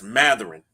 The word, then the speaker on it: Mathurin: I found out how to pronounce his name. It's Mathurin. Mathurin gave.